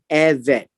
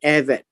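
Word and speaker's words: עבד: And so let me just pause here to talk about the servant, the Eved. And this would be pronounced as Eved, right? Eved. And Eved, being a servant,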